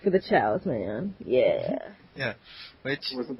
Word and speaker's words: Chao: That's why, for the longest time, I was pronouncing them KOs. Now, I know they're Chows, but for the longest time, I was pronouncing them KOs because it's chaos without the S.